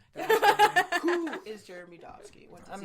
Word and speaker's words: Dobski: Dobski. That's actually how you pronounce my name.